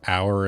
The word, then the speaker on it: hour: But I think it's because the H is silent, really, so it's almost like hour as in O-U-R.